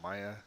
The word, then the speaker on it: Mia: He's in search of his missing wife, who went missing 3 years ago, called Mia, or Maya, depending on how you pronounce it.